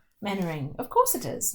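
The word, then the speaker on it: Mainwaring: Manoring.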